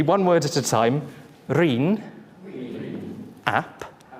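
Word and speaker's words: Rhun: Reen. Ap. Yorwerth. That's good. Now, while we're at it, how do you pronounce the first word?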